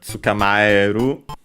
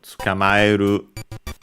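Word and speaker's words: 捕まえる: Let's see its accent. Unaccented, okay, so tsukamaeru.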